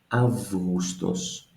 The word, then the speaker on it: Αύγουστος: It is written as an August, almost, as we notice, but it becomes Augustos.